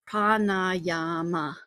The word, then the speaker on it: pranayama: Um it's pronounced pranayama.